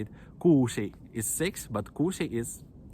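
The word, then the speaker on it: kuusi: for me it was really hard to pronounce uh long letters for example how this um i i remember how it was in sick talk when i say not kushi i said kusi and people like do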